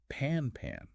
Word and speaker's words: Pan-Pan: It does sound a bit similar, which is why pronunciation is key. It's pan pan.